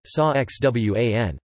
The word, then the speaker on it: San Juan: San Juan, Spanish pronunciation, Sa Xwan, Saint John, is the capital and most populous